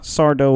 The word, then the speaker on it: Sardo: No, mister. Accent on the dough.